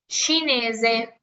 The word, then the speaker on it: cinese: Por ejemplo, C con I para nosotros se lee como chi. ¿Ok? De hecho, ahorita lo estaban mencionando justamente por mensaje. Un ejemplo, cinese. Cinese es la nacionalidad, es chino, chinese.